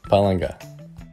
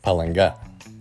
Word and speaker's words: Palanga: For example, I would pronounce these words as žinoma, lietuviškų, and palanga. But as verified by my wife, these would be pronounced as žinoma, lietuviškų, and palanga.